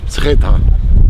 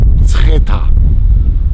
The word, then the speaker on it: Mtskheta: Now I'm having real problems with the pronunciation of this place, so Zaza is going to help. This is Mtskheta. Mtskheta. Mtskheta.